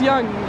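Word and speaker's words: Yonge: la rue young Street ça s'écrit young mais ça se prononce young young ok faire Montréal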